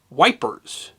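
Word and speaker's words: Ypres: while spelled y p the French pronunciation is Eep still the English who fought there often called the city wipers the EP Salient meaning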